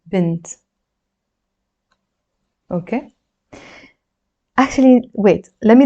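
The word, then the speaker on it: بنت: And we pronounce this as bint, which means girl, bint.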